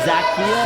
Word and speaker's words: Zacchaeus: I do admit, I'm kind of impressed by the styles of certainly our newest member here at Proving Ground, Zacchaeus. Is that how you say it, Zacchaeus?